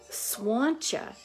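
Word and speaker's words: Slàinte: Arbour area of Scotland, she would say swancha. The word is spelled S-L-A-I-N-T-E, and there's an accent there. And so maybe the people in Iona or Iona area, maybe say the Scotia over in Sydney, they pronounce the L, S-L, but Mama would say, spell or pronounce the L like with a W sound.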